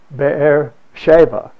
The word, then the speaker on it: Beersheba: big cistern at Beersheba the Israelis do not say Sheba they pronounce the b as of thee and so it's bear Sheva is the way they